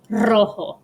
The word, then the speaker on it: rojo: of the word but if a word starts with an r you roll it rojo and i'm going to